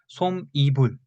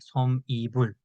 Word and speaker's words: 솜이불: When I first saw this word, I also read like 솜이불, but it was wrong. You need to read it, pronounce it 솜이불, 솜이불. So as you can see, we don't write 니은 here, but we should pronounce 니은, 솜이불.